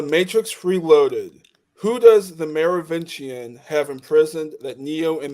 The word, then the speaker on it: Merovingian: In The Matrix Reloaded, Who does the Merovingian have imprisoned that Neo and the group want? Merovingian, yeah.